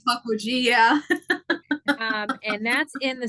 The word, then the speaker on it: Pukwudgie: And then she has, and forgive me if I mispronounce this, Pukwudgie. Is that right? Okay. Yes. All right. I just say Pukwudgie, yeah.